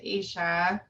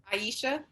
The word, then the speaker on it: Aisha: i agree with with asia is that the correct pronunciation of your name aisha aisha i'm so sorry i've been saying it wrong the whole time and i was like